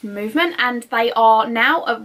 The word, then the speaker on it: MVMT: with movement watches so MV MT is pronounced movement and they are now